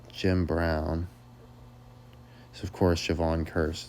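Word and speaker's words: Jevon Kearse: So, of course, Javon Curse, it's like the word curse, but they spell it different, so you don't think of it.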